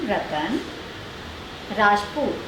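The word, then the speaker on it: Ratan Rajput: बट हाँ, मेरे नाम का स्पेलिंग है RETAN रतन राजपूत, RAAJPUTH। इसको प्रोनाउंस आप राजपूत भी कर सकते हैं, पर वो है राजपूत।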